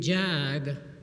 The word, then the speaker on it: Jag: so I was given a nickname jag like in Jaguar and ever since that associates are not been dreaming of owning a Jaguar with a license plate Jags jag right and the